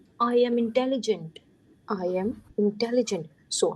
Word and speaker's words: intelligent: The sound of en is on. T is the last letter, no sound. So it would be intelligent.